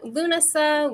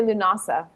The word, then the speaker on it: Lughnasa: Uh I I always say Lunasa. That's how I've always and I've heard it that in Europe, too.